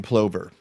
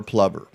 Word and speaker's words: plover: uh we lost monty the piping plover or plumber depending on how i think i like plumber because um it rhymes with lover you know plovers are